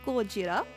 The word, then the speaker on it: Gojira: Created by the same company that made models for the cult classic Godzilla, or Gojira, depending on how you want to pronounce that, the dinosaur was the attention grabber of MSX Dinosaur Land.